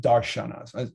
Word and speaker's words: darshanas: Even though there's just an S there, it's pronounced darshanas.